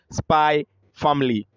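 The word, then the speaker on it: Spy × Family: about an anime called spy family it's actually pronounced by family but it's written spy ex family just like hunter x hunter is pronounced hunter hunter okay so um this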